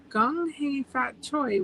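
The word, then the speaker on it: Kung Hei Fat Choy: the most popular ging which is Cantonese pronounced gong he F Fat Choy gong he Fat Choy which means congratulations and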